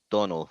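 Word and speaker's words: Domhnall: shitty General Haw isn't it yes it is domal Glen it's actually pronounced Donald like Donald without the D oh thank you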